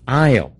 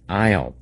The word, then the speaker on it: aisle: 这个地方叫做一个 aisle。